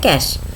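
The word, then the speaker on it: cache: memory है कैश memory इसको हम प्रोनाउंस करते हैं कैश कैश मेमोरी क्या है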